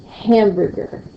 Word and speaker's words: hamburger: Like here, hamburger, hamburger. I hear a louder sound, a little accent, a little punch on the word ham.